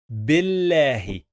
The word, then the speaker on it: بالله: And then Billahi. Billahi. Pay attention. We have here alif, bil, and here we have this lam, but we don't pronounce this lam.